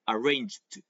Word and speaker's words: arranged: arranged you know like the E is silent arranged and then yeah well